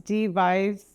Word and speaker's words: Dea Vise: do you think um my name's D Vice I've heard all the jokes about what kind of device are you um it's spelled DEA Vice which makes it worse